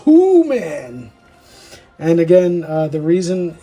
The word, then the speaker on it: Who-Man: So when they the, uh, the beastly animals of this planet say his name, it sounds like who man.